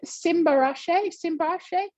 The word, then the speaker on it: Simba: Is it Simba? Are you there? Yes, how are you? Is that the correct pronunciation of your name? Yeah, correct one.